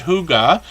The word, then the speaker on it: hygge: when we look at hygge uh you see it's pronounced as if it would be spelled h-o-o-g-a and they let us